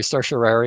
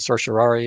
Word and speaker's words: certiorari: full search of why people pronounce a different way certiorari and certiorari that all these different ways but it's it's the